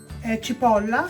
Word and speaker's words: cipolla: Cipolla. Cipolla.